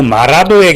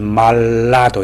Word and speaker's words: 마라도: 혀끝 위로 흐르기 때문에 마라도 하든지 마라도 하든지 전부 다 R 발음이죠. 우리가 L 발음을 한다면 말라도 이렇게 되겠죠.